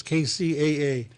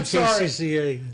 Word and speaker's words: KCAA: mouth neither could i it's k-c-a-a k-c-a-a what did i say i was just squirming in his chair i don't know i said cca so hurry mark i i didn't mean to say it like that sorry frank kcaa those are our people and i knew i said it wrong as soon as i